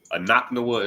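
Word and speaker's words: אנחנו: Anaknawa is how you say we in Hebrew.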